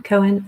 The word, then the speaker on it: Cohen: Cone or Cohen? Cohen.